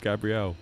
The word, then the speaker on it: Gabrielle: It's not Gabriel. It's Gabrielle.